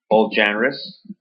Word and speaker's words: genre: So this is all genres. Maybe we could just say genres. How do you pronounce this word in French?